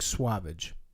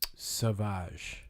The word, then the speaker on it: Sauvage: like suavage. Well, Like, it looks like a play on suave and savage. it's French, so it's sauvage.